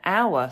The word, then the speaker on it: hour: have an hour lesson then it's an hour Silent Age an hour but I have a